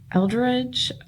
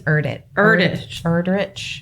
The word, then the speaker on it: Erdrich: And I used the Greenwood Library website and I found The Night Watchman by Louise Eldridge. I think it's Erdrich.